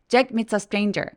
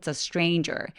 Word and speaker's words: stranger: Jack meets a stranger 노란색으로 되어 있는 발음들이 전부 다 굉장히 길게 혹은 이중 모음으로 소리가 나기 때문에 여유롭게 소리를 가져가 주셔야 돼요 stranger 아니고 stranger me stranger 그리고 항상 뒤에 단어가